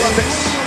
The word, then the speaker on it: Dantes: Y no te olvides, con acento en la E, Apollo Dantes.